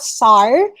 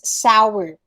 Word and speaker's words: sour: then it's not sorry it's not sore it's sour common error toha this is a very commonly mispronounced word in the english language it's not sar it's sour two syllables sour all right parentheses was